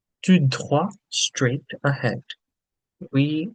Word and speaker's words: tout droit: There's an E here, so we say the T. Whereas here, T is the last letter, so we're saying tout droit.